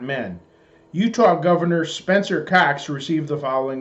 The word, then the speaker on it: Cox: last name is spelled c-o-x dearest Governor Cox I do not know if you know this but when people say your surname it sounds like the word it's obscene us decent people here